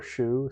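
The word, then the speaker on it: 熟: In China, even the official pronunciation for shou can be shou or shu, so either one is fine.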